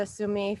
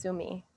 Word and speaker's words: Sumé: we just watched the tsumi film i hear i found out i was saying it wrong the whole time and it's sue me um we're really really